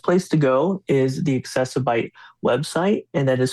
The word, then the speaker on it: Accessibyte: The best place to go is the accessib website and that is spelled A C C E S I B Y T E. So it's like accessible but computer bite or Facebook, Instagram, all those good places.